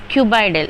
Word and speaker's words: cuboidal: Cuboidal, even though these are starts with C, but we have to pronounce it like K, cuboidal.